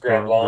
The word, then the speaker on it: Grand Blanc: of Latter-day Saints in Grand Blanc, B-L-A-N-C, Michigan. Blanc, I think Michigan. it's pronounced Grand Blanc. Grand Blanc there.